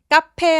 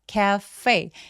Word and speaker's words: cafe: 카페 아니고요. cafe. F 발음은 바람이 새어나와야 되고요.